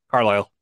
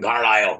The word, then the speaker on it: Carlisle: And Carlisle, or whatever the fuck, however you pronounce it. How you pronounce it? You got it right the first time. Carlisle. Yeah. It's fucking Carlisle.